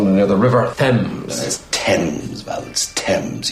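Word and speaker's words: Thames: L near the river thems TS Val TS you don't pronounce the th it's a very tricky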